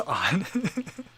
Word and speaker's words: On: the pegasus 37 um own is how hookup does pronounce this on that's funny funny uh